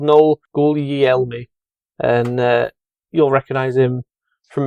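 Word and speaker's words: Gugliemi: I don't know, but I want to read it as Google me. Exactly. He's called Noel Guglielmi.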